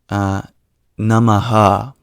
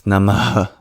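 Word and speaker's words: namaḥ: So it's not namaha, although you might hear in modern times people pronouncing it as such. It's actually the relinquishing of your breath. So it's namaha.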